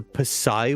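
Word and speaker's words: Psi: I don't even know if the the the Pai warrior the P is silent.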